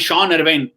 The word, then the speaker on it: Sean: Jean Paul Duminy, Sean Abbott, that way? Exactly! Similarly, Sean Ervine. S-E-A-N but they will pronounce it as Shaun.